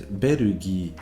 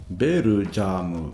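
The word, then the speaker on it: ベルギー: The word for Belgium in Japanese is berugi, not berujamu, or whatever you might end up with if you try and take the English word and Japanify it.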